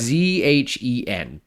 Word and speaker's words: Zhen: I honestly could have watched a movie all about Jen. Jen. I don't know how to say her name. It's Zhen. Yeah, Jen. Jen. It's like a soft sh.